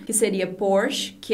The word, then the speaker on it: Porsche: com sotaque dele é por che e ele compara com o porte que a varanda então a diferença na pronúncia é justamente nesse nessa última sílaba uma época xvii com